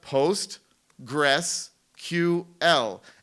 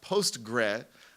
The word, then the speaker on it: PostgreSQL: So just as a quick thing, it's pronounced PostgreSQL. And if you post a note to a mailing list asking about Postgre, First of all, you will be laughed at,